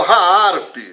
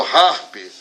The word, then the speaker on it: HAARP: Sua tecnologia foi incorporada no programa de pesquisa Aurora de Alta Frequência Ativada, conhecida como HAARP, localizada no Alasca, ou conhecida como HAARP, essa pronúncia também está certa.